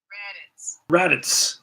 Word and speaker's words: Radatz: Raditz or Radats or one of those. Maybe Raditz. But he's a rat for sure. And let's quickly check out how you say his name here. Let's see. Let's see. Let's see how this will help us out. Raditz. Okay. Thank you.